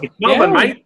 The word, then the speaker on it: Melbourne: It's Melbourne, mate. It's Melbourne, mate. I'm like, okay, that's what I said. I just pronounced it different.